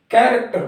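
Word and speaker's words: character: लिखा हुआ है क ए आर ए सी टी आई आर इसको हम कैरेक्टर पड़ता है जिसमें हमने देखा की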